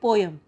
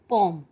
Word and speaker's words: poem: देखो बेटा, मुझे पता है हम सब POEM को क्या प्रोनाउंस करते हैं, पोएम, बट वो रॉन्ग है. This is the wrong pronunciation. The correct pronunciation is पोम.